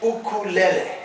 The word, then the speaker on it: ukulele: come up with our final instrument we call ukulele everyone and now that is the correct pronunciation of this instrument this is not the